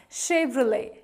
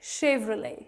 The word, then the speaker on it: Chevrolet: Well, the correct pronunciation is Chevrolet, Chevrolet, Chevrolet. Though it has T in the end, but it is silent, it is pronounced as Chevrolet.